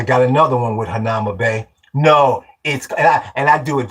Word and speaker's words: Hanauma Bay: Yeah, we want to go to Hanumia. It's called Hanauma Bay.